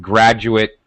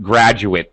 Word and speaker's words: graduate: pronunciation for everyone um a te endings when we use it as an adjective like graduate degree it graduate school it's UT it's reduced pronunciation when we use it as a as a noun or an adjective it's reduced when we use the at ending word as a verb then we fully pronounce it and it it is stressed it sounds like eight I graduated in 199